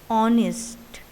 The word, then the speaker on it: honest: See here, the word contains the letter H, but when we pronounce it, H is silent. So the pronunciation is honest, which begins with a vowel O.